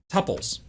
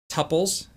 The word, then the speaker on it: tuple: a body, which contains tuples. Second point of pronunciation, tuples instead of tuples. If you are a tuple person, that's okay. I'm going to call them tuples.